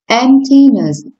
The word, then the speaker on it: emptiness: Emptiness. Yeah, you did it. Emptiness. And you need to place. Yeah, you need to place the. You need to place the stress on the first phonetic symbol.